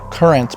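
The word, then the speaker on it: QRNT: So check out the current, that's pronounced current, but spelled Q R N T and it's from my good friends and our new partner, Kayla.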